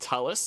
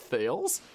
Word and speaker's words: Thales: Also, it's pronounced Talus, not Thales.